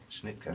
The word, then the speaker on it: Schnittke: And it struck me with the I don't know how to pronounce it, Schnittke? Schnittke.